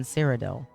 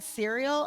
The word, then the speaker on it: Cyrodiil: An alchemist can be found in almost every city in Cyrodiil. Cyrodiil. Is that not how you pronounce it? Cyrodiil? I said cereal? I thought I said Cyrodiil. Cereal dill.